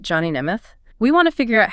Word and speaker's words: Nemeth: And that's pronounced Neimoth, right? That's right. Johnny Neoth.